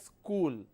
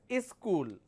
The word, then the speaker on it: school: part of the country they don't pronounce this as school they pronounce this as is school they just add a e sound in the beginning so is school when you say is school that means it has two syllables but actually it's not